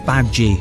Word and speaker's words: Badguy: Dominic, Badguy? Fozzie Bear couldn't believe that was really the tour manager's name. Dominic corrected him. It's pronounced Badguy. It's French. It means good man.